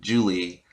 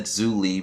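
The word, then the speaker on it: Zhu Li: and then zu julie julie i i said zulie because like it's spelled with a z i think they're using like chinese names or something um in avatar so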